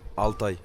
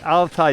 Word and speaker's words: Altay: So how do you say Altai in English? Altai. Altai. Yeah, Altai. Okay. And in Chinese? Altay. Okay. Yes. So it's Altai, Jack. I had it right before.